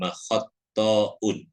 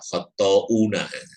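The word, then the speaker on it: خطّاء: Di waruwiya annahu sallallahu qala, diriwayatkan pula Nabi bersabda, kullu bani adam khatta'un. Khatta'un. Jadi seringkali mendengar salah baca khatta'una. Jadi tulisannya khatta'un karena itu sudah jamak.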